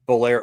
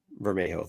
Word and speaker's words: Bermejo: I mean, the Bolero, whatever, however you say his name. I bet you guys are gonna pick him later because that Spider-Man cover is a good cover. Bermejo, thank you.